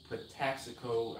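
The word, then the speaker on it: Patapsco: is called the taxical do not ask me how to spell patapsico i just know that's how it's said it's pataxico i believe it's a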